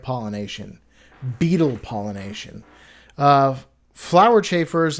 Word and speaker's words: chafer: I just realized the word is chaffer. Chaf is spelled ch h a f. I mean e with no e with no r. chafe. E at the end.